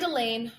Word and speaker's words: Elaine: or any class and Elaine rhymes with pain the unteachables have been removed from the student body and isolated in room 117.